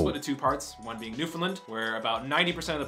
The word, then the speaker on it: Newfoundland: in the world newfound newfoundland is pronouncing newfoundland newfoundland the emphasis on the new not the which is like an fn not even an eye because i pronounced it new finland before but all yeah anyway